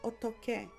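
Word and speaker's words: 어떻게: So for example, the word otoke, that kiok sounds like a K or kiok because of that hiet.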